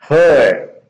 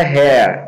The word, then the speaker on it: her: Her, preste muita atenção, gente. Vou até ampliar aqui um pouco para vocês verem a pronúncia, né? Ó. Her, certo? Não é hair, é her. Her é como se fala, né?